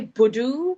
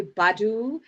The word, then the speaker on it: Budhoo: Yeah, it's and then we normally say buddoo, but some people say badu like Erica Badu.